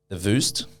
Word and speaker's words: Voost: But yeah, I definitely think the Voost is, I'm saying it right.